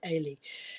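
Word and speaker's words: Eilidh: and I said, oh, you actually pronounce it Ailey, because I had a struggle to begin with, and my brother was here when we were discussing this, and he said, look, it's like Auntie A. I've got an Auntie Aileen, so I think Auntie Aileen, but just take the N off.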